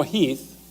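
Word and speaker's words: Heth: Lee's intent actually is to kind of let General Heath, it's spelled H E8, but it's pronounced Heath, to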